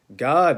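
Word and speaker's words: Gad: female servant were g.a.d which is pronounced god in hebrew and asher these were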